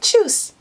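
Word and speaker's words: Tschüss: juice yeah that's how i would say it choose choose choose choose now and choose is one of those words which is spelt with a german letter i can't remember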